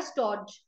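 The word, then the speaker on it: stodge: अब यहाँ पे एक नया वर्ड जो आपने देखा वो है स्टॉर्ज। यहाँ पे डी साइलेंट है, इट्स स्टॉर्ज।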